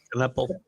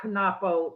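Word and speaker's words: Knueppel: But this kid from Duke, okay, I can't pronounce his name, the center, Knuppel. Knuppel. Yeah. No, not Knapo.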